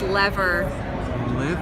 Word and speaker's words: Lever: will correct you Trevor the company is lever rhymes with clever Ron's with and Ron's